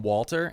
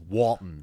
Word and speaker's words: Walton: yeah he's so good I always get his name wrong it's like Walton Walton gogin cuz I was want to call him Walter and that's not his name his name is Walton yeah uh he plays